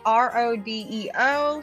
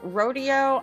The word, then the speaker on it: Rodeo: The next one is spelled R-O-D-E-O. Some people might want to say Rodeo. I'm going to call it Rodeo.